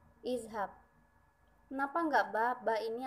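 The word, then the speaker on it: اذهب: Selanjutnya kita tambahkan huruf alif berbaris kasroh di depan huruf za, jadinya i. Terus huruf za-nya kita ubah jadi berbaris sukun, tidak berbaris fathah lagi. Jadi nanti dibacanya iz. Nah, maka jadilah fi'il amr izhab. Nah, jawaban yang tepat nomor 2 adalah A, izhab.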